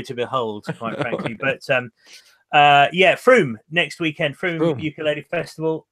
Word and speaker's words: Frome: Yeah, this time next week we will be at the Froome Ukulele Festival. Okay. Froome, but it's spelt Frome. Frome. I kept saying Frome, and I got told.